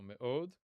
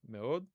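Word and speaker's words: מְאֹד: This time without a vav. So, me'od. Okay? And the two dots underneath it is shva. That is shva. Okay? So, just a reduced vowel. Me'od.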